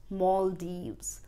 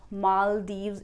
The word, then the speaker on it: Maldives: to go to Maldives you rather pronounce it as Mawl-deevz there are two syllables , when you will break this word, you will break it in two parts first syllable is mawl second is deevz in which the stress will be on first syllable , first syllable you